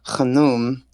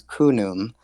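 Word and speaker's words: Khnum: And so the one I primarily work with, um, I've I've learned 2 ways to pronounce his name, and the first one is Khanum or Khanum, and then the other one is Kunum.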